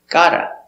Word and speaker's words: gotta: Pronunciation. I've got a car. I've got a car. Or I got a car. Gotta.